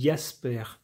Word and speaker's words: Jasper: de famille étant allemand, il est censé se prononcer à l'allemande, c'est-à-dire Madi Jasper, à l'allemande.